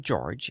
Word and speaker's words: Jorges: In spite of the French spelling, he pronounced the name George in the English manner.